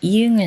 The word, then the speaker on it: 이응: 그런데 초성 이응은 소리가 없어서 발음 기호로 쓸 수가 없어요. 그리고 받침 이응은 응 소리를 내는데 이 소리를 발음 기호로 나타낼 때는 이응을 써요. 응 소리를 내는 받침은 이렇게 이응 하나밖에 없어요.